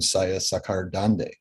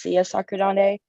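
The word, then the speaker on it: Saya Sakhardande: final question is from saya sakhar dande saya i present cable um my name is actually pronounced sia sakurande i'm an undergraduate um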